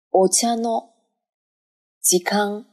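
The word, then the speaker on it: お茶の時間: お茶の時間连在一起就一直读成了一个高音。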